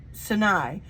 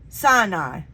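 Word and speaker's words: Sinai: flock far into the Wilderness and came to saai SI okay wait okay I said it wrong the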